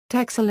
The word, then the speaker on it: Texel: historical sound-changes in Dutch, where all -x- sounds have been replaced with -s- sounds, the name is typically pronounced Tessel in Dutch. History In the early Middle Ages and before, Texel and Wieringen may have